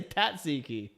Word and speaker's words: tzatziki: How do you say tzatziki? Tzatziki. I say tatsiki.